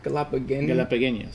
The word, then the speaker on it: Galapagueños: Galapagueños.